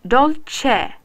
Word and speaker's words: Dolce: Right, Dolce.